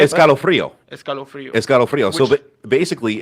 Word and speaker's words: escalofrío: escalofrío.